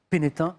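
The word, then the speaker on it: Pénestin: jette dans l'océan Atlantique à pénétin on prononce pas le s était anciennement nommé visnonia ou vikinonia la vilain ah la vilain il est vilain Lille la Villain et pénétin alors ceux qui ne connaissent pas la Bretagne veulent prononcer le S mais on dit bien pénétin Antoine un grand bravo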